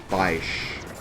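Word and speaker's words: Feyesh: Someone suggested that because they have eyeballs, they should be called, like, pronounce it like there's an I in their name, so it's like Feish. Which I guess would make sense, but I kind of like it my way.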